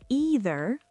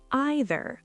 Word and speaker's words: either: You can say either, like see, or you can say either, like I. Either or either. Either one is correct.